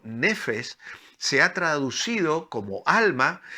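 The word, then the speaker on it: נפש: totalidad de mi vida esta importante palabra hebrea que es una palabra que se pronuncia en hebreo como nefesh se ha traducido como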